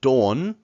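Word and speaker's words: 돈: is sound or sounds and dawn which is money remember this sound right here is a long Oh sound so o or o not ah it's dawn sorry go make sure you pronounce long vowel o and then here remember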